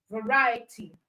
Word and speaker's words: variety: Okay activity all right the same for variety okay it's so the stress is on right okay variety and then for probability